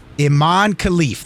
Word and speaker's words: Imane Khelif: Is it Imane Khelif? Imane Khelif, the E is silent.